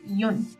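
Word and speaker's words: 四: Su lectura onyomi es shi y su lectura kunyomi es yon. Normalmente los números los decimos con su pronunciación onyomi, es decir, la china, ichi, ni, san. Pero cuando llegamos al 4, habíamos dicho que shi significa muerte. Por lo tanto, por superstición, se utiliza más la yon, pero también shi se usa en algunos casos.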